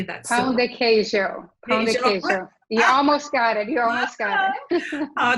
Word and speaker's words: pão de queijo: Pão de queijo. I say that. Pão de queijo. Pão de queijo.